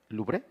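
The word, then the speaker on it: Louvre: Francia Josué hay un museo muy famoso que se llama lubre así se pronuncia así Ahí está un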